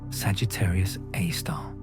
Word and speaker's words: Sagittarius A*: Our own Milky Way hosts its local example, Sagittarius A, pronounced Sagittarius A star.